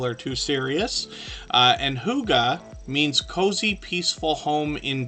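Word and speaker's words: hygge: friends Huga Homestead um this word h y g g e is pronounced Huga and it took me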